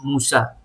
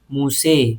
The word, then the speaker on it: Musa: For example, in the riwayah of Imam Hafs and Asim, it is Musa, normal. In the riwayah of Imam Khalif and Hamza, it is Musa with the imala.